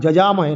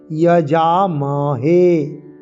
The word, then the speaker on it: যজামহে: যজামহে কি আছে না, অন্তর্য আর পরে বর্গীয় জ, যজামহে নয়, যজামহে।